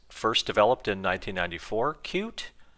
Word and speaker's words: Qt: first developed in 1994 cute as in cute so this is the company itself telling you that it is actually pronounced cute I found it funny